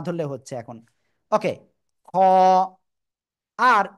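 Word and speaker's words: خ: আমরা বাংলায় পড়ি এই যে অক্ষরটা না, এরকম উচ্চারণ, খ। গলার শেষ ভাগ থেকে উচ্চারণ করতে হবে, খ খ খ।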